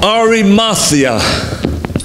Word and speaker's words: Arimathea: cross by Joseph of Arimathea. Actually, I'm saying that wrong. I've said it that way all my life, and it's incorrect the way I pronounce it. Arimathea is the way it's actually pronounced.